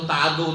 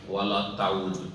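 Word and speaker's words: ولا تعد: তো এই সমস্ত উচ্চারণের মধ্যে কোনটি সহি? সেটি হচ্ছে ওয়ালা তাউদ, এমন কাজ তুমি করিও না।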